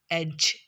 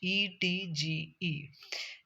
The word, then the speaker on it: edge: other consonant, like this edge, edge. uh, when vowel comes before d, it produces its sound, it silents its sound. In this word we can say d sound is silent.